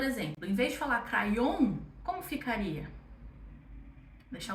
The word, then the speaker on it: crayon: A com Y também não é um encontro que a gente está acostumado. Mas, se você associar com a letra E, vai dar certo para sua pronunciação.